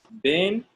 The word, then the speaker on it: been: of these two words, been and being. Been and being. Can you repeat after me? Been. Being. Being. Being. Yeah, so one has one syllable, the other one has two.